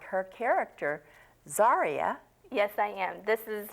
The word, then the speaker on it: Zaria: like I have I never say it right zaria yes zaria from the first book if you notice that